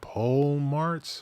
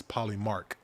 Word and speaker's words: Polymark: It's kind of annoying because the way it's spelled like the word pole and march together. Okay. So people are sitting like, pole march? What is it? I thought people would be more educated. I have no idea what it means. So it's Greek, and so it's, even though it's spelled like pole march, it's Polymark.